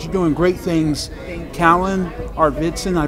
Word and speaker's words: Arvidson: Kallan Arvidson, I pronounced your last name right.